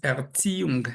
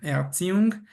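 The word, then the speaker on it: Erziehung: La Z suena como t y la i e suena i larga y la h todavía alarga la vocal anterior todavía más. Entonces, Erziung, Ertziung y Bildung.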